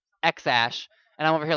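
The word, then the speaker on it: X Æ A-12: and it's like x-a-e-12 how was it pronounced x-ash and i'm over here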